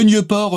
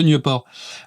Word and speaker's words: Nieuport: Le Nieuport 23, je fais attention à la prononciation parce que j'avais quelques petits problèmes avec le nom de cet avion, que j'avais tendance à dire un petit peu trop en anglais.